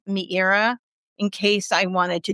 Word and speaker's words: Meira: MEIRA, like Madeira wine, but MEIRA.